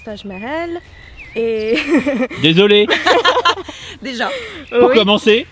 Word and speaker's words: Taj Mahal: Alors, Taj Mahal, déjà ça se prononce Taj Mahal et...